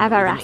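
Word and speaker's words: Evereste: It's called a Malus Everest, but with an E, so Everest spelled like the mountain, Everest. With an E on the end.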